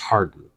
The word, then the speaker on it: Hawarden: Peter lives in Hardin. It's spelled Hawarden, but it's pronounced Hardin.